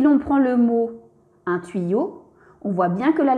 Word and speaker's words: tuyau: Si l'on prend le mot un tuyau, on voit bien que la lettre Y est placée entre deux voyelles, le U et le A. Donc Y va se prononcer double I.